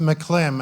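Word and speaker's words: McCLIM: thing is that um it's pronounced McLean after Mike McDonald who was the first person to start the implementation so it's to honor him that we call it McLean and I have a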